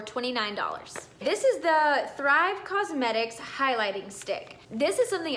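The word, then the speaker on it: Causemetics: It's spelled Thrive Cosmetics, like C-A-U-S-E.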